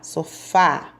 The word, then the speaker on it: sofá: agudo no último a no sofá também um acento agudo no ar sofá porque o som saiu aberto e mais forte na sílabas a letra